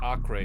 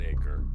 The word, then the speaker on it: Acre: Apparently, in standard Portuguese, European Portuguese, it would be pronounced Acre.